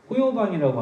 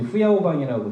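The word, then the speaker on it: 胡耀邦: 실행할 사람으로 등소평 후계자로서 호요방이라고 하는 저희 세대 사람들은 호요방이라고 신문에서 봤고 그래서 이제 후야오방이라고 중국 발음으로 얘기하는이 사람이 선택됐다는 거예요 근데이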